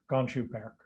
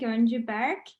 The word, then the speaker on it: Goncu-Berk: Please join me in welcoming Professor Gonju Berk.